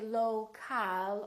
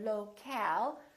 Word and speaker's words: local: For example, we stress the first syllable here, low, low, but we don't say local or locale. We reduce the second syllable and it becomes the local, local. So you see OL and AL sound exactly the same because they're both reduced syllables.